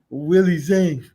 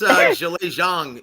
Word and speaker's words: Zhilei Zhang: Willie Zhang. Willie. Well, it's Zhilei Zhang is actually how you pronounce his name.